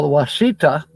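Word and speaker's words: Ouachita: haven't been there now wasita which is spelled you'd think oh wasita is spelled with a W no it's not spelled with a q q UI c h ta and the wasita mountains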